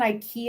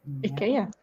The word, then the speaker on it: IKEA: And so I got that's an IKEA I think it's called a Sandstrom.